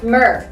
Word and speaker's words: Myrrh: I think a lot of people, they don't know how to pronounce this one. They probably say mine or something like that. Yeah, it's a tricky one with the double R too. Myrrh. We need to roll our tongue, right?